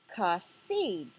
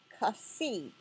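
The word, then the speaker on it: חָסִיד: And this is pronounced kasid, kasid.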